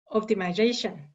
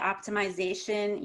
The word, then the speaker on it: optimization: the last word again optimization yeah some people in other countries maybe in britain would say optimization usually americans just say optimization optimization so it's not